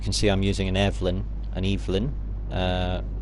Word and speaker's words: Evelyn: see I'm using an Evelyn an eelin uh I know you pronounce it eelin but um my mom's